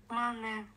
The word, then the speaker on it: Мане: Мане. Мане. Да. Буква М, потом А, потом Не, потом Э или Е? Е, но читается как Э. Мане читается как Э, понятно.